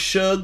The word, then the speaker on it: Suge: It's pronounced Suge, like Suge Knight.